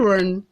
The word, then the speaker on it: un: But this one is just U-N. It's pronounced as what? On.